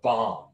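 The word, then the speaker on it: bombe: And this machine to the right is called a bomb, but it's spelled like bomb with an E at the end.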